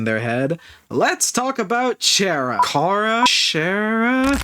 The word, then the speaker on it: Chara: Oh, and speaking of the voice in their head, let's talk about Chara. Chara? It's pronounced Kara as a character, you stupid motherfucker, you